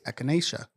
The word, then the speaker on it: echinacea: being tested for performance enhancing drugs such as echinacea or whatever you might think of? Horny goat's weed. I hope that's how it's pronounced.